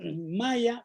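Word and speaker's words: Maja: alemana que se llama malla malla como la civilización maya sólo que en alemán se escribe con jota con g mayaguez ella tiene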